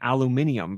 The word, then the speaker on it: aluminium: see how it's spelled cuz we spell ours how we say it. We spell it A L U M I N U M. That's why we don't say aluminium because we spell it aluminum. So, is there a British spelling for it? And that's why they they spell it aluminium.